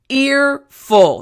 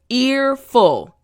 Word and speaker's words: earful: Let's start with the first slang term, earful. Now, real quick for the pronunciation after me. Earful. That's right. Front teeth, bottom lip. Ear full.